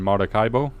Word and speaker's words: Maracaibo: I hope I pronounced that correct. Maracucha and Maracaibo.